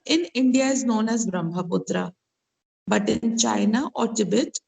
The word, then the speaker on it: Brahmaputra: Further east lies the Brahmaputra and its tributaries.